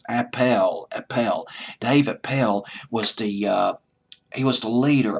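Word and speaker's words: Appell: Also Dave Appel, it's A-P-E-L-L, I'll just pronounce it as Appel.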